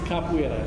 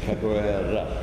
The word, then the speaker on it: capoeira: But in Portuguese, Brazilian Portuguese, the emphasis is on the second to last syllable.